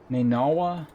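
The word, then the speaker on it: نينوى: Is that how that's pronounced? Nineveh? Nineveh? In Arabic, it's Nainawa, whatever.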